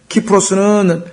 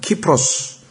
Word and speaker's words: 키프로스: 키프로스는 라틴어식으로 읽으면 C자, 영어의 철자 C자가 K로 발음이 됩니다. 키프로스.